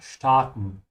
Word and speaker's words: starten: It could also mean to take off, which is the meaning here, starten. Also notice how I'm pronouncing it. I'm saying st with a sh because the s comes before a t, yeah?